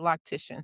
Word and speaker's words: loctician: So, I have been So, you said it right, lactician.